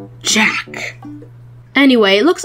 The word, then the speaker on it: Jacques: It's pronounced Jack Town.